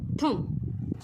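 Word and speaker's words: thumb: म्हणजेच काय अंगटा आणि ह्यामध्ये सायलेंट कोणत अक्षर आहे तर विद्यार्थी मित्रांनो कळालच असेल काय आहे बघा पी तर विद्यार्थी मित्रांनो चला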